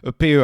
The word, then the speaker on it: PEA: I'm I'm going to pronounce it the French way. A pay.